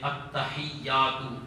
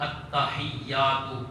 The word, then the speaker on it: التحیات: میں نے کہا آپ پڑھیں میرے پیچھے پیچھے التحیات التحیات التحیات، میں پیچھے لگ گیا انہوں نے، وہ بھی